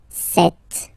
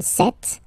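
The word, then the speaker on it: cette: Okay, so let's see that again, se, and then set, feminin set. So you can notice that phonetically these two are pronounced the same way. Okay, set here and then set here.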